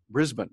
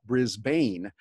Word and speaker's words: Brisbane: Now I go to Brisbane, because the Australians pronounce it Brisbane, not Brisbane, but many Americans will miss it.